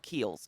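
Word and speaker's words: Kiehl's: not a rag however i love keels keels is the brand it's spelled k-i-e-h-l-s they're uh one of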